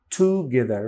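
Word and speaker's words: together: এখানে এবং একই সাথে স্ট্রেসটা হচ্ছে গে এর উপরে গে এই এই সিলেবলের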